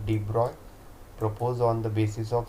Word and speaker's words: de Broglie: सो इन 1924 this Prince Louis डी ब्रूगली that is pronounced as अ डी ब्रॉय proposed on the basis